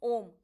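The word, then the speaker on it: ॐ: creation sustain is destruction so वन we pronounce ओम आप देखो क्या कता अ पूरा मुह खुला है ना अ नीचे से पूरी वायु आ रही है उ अब देखो मुह पार्शियली आपका हो रहा है कैसे हो रहा पूरा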